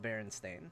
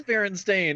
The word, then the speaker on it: Berenstain: It's not even spelled Stain. Like, why we all thought that? Oh, is beyond seriously? Me. Yeah, it's spelled Berenstain. Berenstain. I don't know. Oh my god, it is Berenstain.